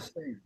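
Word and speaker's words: Sande: Moving on to number 2, we have Aldous Van Sandy. I think that's just a sand. Say that again? I think that's just sand. I don't believe the E is pronounced in German.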